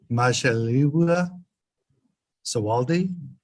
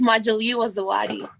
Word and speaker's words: Majaliwa Zawadi: Majaliwa Sawaldi? Yes, Your Honor. Okay. Was that even close to how you say it? It's close enough. It's Majaliwa Zawadi.